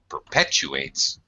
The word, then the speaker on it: perpetuates: U and the a here in the middle we have a Glide when we use a w or a y sound to join two vowel sounds there's a Glide there perpetuates plus the stress syllable is pet perpetuates okay uh go ahead and